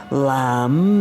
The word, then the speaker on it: Lam: Lamb is the one syllable Sanskrit mantra.